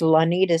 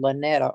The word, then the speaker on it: Lanita: Well, mom says Lanita Sue, but they didn't spell it right. So, mom gets called Lanetta all the time, so she said, "Just call me Sue."